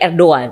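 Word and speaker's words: Erdoğan: Tulisannya Erdogan. Tapi bacanya Erdogan. Bacanya Erdogan.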